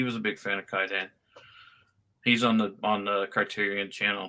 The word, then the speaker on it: Kwaidan: Kwaidan, is that how you say it? Kwaidan, yeah.